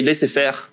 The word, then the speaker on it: laissez-faire: And we see that usually it leads to a, pronounced the French way, laissez-faire approach.